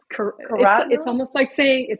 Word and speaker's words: carotenoid: the yeah with all the carotenoids or I probably didn't say that right. Carotenoids, it's good. There. It's good. Oh, wait, Yeah. say that again. It's Carotenoid. almost like saying carrots, carotenoids.